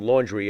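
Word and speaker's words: Laundrie: each first of all I pronounce his last name laundry as in dirty laundry because he's got plenty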